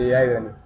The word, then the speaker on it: Haibrany: La pronunciación correcta de su nombre, Ibrani, ¿sí? Sí, Ibrani, bien dicho.